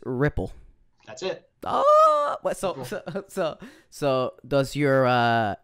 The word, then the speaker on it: Riepl: when he was at he said my name wrong all the time it wasn't far from ripple it was it was it was it was like he emphasized the e like it was a regal and it happened so